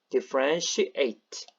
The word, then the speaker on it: differentiate: 동사니까 eight라고 읽었죠. differentiate.